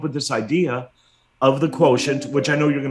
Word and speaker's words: QTNT: Quotient. That's how you pronounce it, right? It's spelled like a QTNT, right? Spelled QTNT. I actually trademarked that. What I did is I took the word quotient and I removed the vowels.